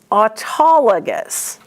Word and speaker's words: autologous: Now look at the word autologous, because auto is at the beginning of that word. It is a prefix. So you want to put it together, don't you? Auto. Well, if you do, then you're going to be pronouncing it incorrectly. It's autologous.